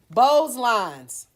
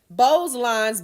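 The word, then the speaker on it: Beau's lines: dealing with cosmetic right so here we go bows lines if you look at this it's kind of hard to see in the book but Bose lines b-e-a-u-s these are depressions running across the width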